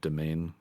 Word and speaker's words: demesne: what's that i think the next one is the domain it's spelled demesne uh oh yeah yeah uh